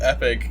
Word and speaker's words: Epoch: of the Living Tombstones remix of Epoch, or Epic, as some people like to call it. But I think Epoch is the objectively better pronunciation.